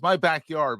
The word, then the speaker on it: MyBkyrd: He has a new project called it's MyBkyrd, but it's spelled MyBkyrd. And it highlights individuals in the Philadelphia area, in our backyard, hence the name.